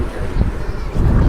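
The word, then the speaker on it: Rzeszów: is the place that we had to use Google Translate to work out how to pronounce it, because it's really the vowel of that word and you have to know Jezo. Jezo, R-Z-E-S-Z-O-W.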